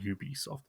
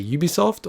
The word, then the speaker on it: Ubisoft: doing this podcast and it's actually mixed it's one of those ones where pretty much it's correct to say ubisoft or ubisoft generally if you're a french speaker you'll say ubisoft and if you're an